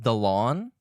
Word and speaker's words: Dalauan: Oh, it's is it pronounced Dalauan? Okay, that would the lawn.